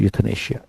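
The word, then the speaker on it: euthanasia: तो that is यूथनेशिया। ए इज़ the correct answer. यह pronunciation होता है।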